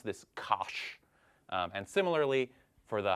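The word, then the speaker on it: cosh: for hyperbolic so hyperbolic cosine and usually we pronounce this Kos um and similarly for the hyperbolic sign we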